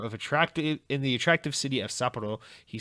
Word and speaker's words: Sapporo: Sega Sapporo, it's pronounced Sapporo.